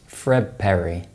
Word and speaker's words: Fred Perry: And the clothes manufacturer Fred Perry is actually pronounced Fred Perry.